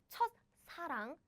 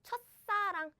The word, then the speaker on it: 첫사랑: So the pronunciation changes to like 싸, as in 싸. No, 싸. So it's not 첫사랑, 첫사랑. No, it's 첫사랑, 첫사랑.